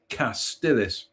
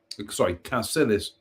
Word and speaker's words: Cassilis: Culzean Castle, one of the foremost attractions in Scotland, and pronounced Culzean. Culzean Castle is a magnificent, sprawling, castellated mansion of the Kennedys, Earls of Castillis. Cassilis.